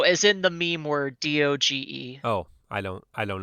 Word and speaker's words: doge: no as in the meme word d-o-g-e oh i don't i don't know what we're